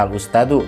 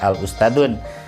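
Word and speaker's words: الأستاذُ: Makanya ini dibacanya al-ustadu, tidak al-ustadun.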